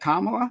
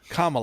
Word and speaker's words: Kamala: for a li uh like Kamla right or sorry however you pronounce Paris. Oh now it's intentional kamaba. Sorry. I just think calm Allah, right? Kamala.